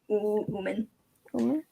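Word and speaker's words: Oomen: He made a neat slash across Uman. Is that how you say it? Yeah, Uman.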